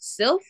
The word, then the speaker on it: Sif: so it's basically like I think I'm pronouncing her name wrong it's Silph s-i-f so basically they yes and